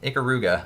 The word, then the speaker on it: Ikaruga: Is that how you pronounce that game? Ikaruga.